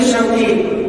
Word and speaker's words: Syauqi: Nama saya yang diberikan saya punya orang tua adalah Syauqi. Shin waw of ya, Syauq, yang mempunyai arti kerinduan.